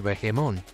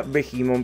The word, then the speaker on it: Behemoth: mi favorito es el vemon pobre Steven qué obsesión Bueno de hecho se pronuncia bimon pero Cómo no enamorarse